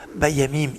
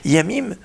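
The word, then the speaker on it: ימים: Yamim, ça s'écrit Yud Mem, Yamim. Yamim, pas Yamim, attention, il ne faut pas mettre des dagues, pas, parce que Yamim c'est les mers, Yamim c'est les jours.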